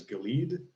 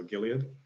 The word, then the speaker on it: Gilead: always think of it in my head as Gilead, which is evidently not how it's supposed to be pronounced, so Gilead.